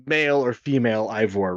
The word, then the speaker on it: Eivor: like male or female Ivor, right? Mhm. I'm wondering, Eivor. I pronounce it Ivor, first of all.